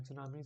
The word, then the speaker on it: tsunami: and tunami title waves tsunami is beened as this only with a t silent if you can recall and tsunami so it's simple tsunami